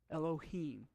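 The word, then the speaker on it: אֱלֹהִים: had we can see we have the hot off c go underneath the olive but it's still a sound yeah low peen elohim name for god that's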